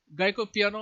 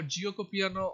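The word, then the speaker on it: Giuoco piano: In various parts of the world it is pronounced as various names, so that's why I tried to say all of them as much as I knew.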